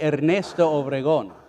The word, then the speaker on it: Ernesto Obregon: Actually, if you want to pronounce it correctly, El Padre Ernesto Obregon.